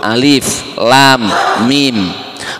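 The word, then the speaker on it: الم: dikatakan huruf yang terputus-putus bacanya enggak boleh disambung Alif Lam Mim makanya ketika ada Alif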